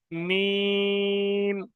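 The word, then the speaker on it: ميم: মিম। মিম উচ্চারণ হয় দুটো শুধু ঠোঁট দিয়ে, দুটো ঠোঁটের শুকনো অংশ।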